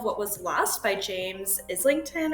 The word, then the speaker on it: Islington: was lost by James Islington or isington I guess is how you say his name so I actually have